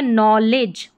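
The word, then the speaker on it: knowledge: तो ये हो गया नॉलेज क्या हो गया नॉलेज नो के एन ओ डब्ल्यू नो क्योंकि यहां पर के जो है वो साइलेंट है ठीक है नो और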